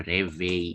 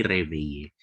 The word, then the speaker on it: réveillé: Ya je me, baru disisipin si etrenya, baru réveil. Ini bacanya bukan réveil tapi réveiller. Jadi ada centang yang atas itu set.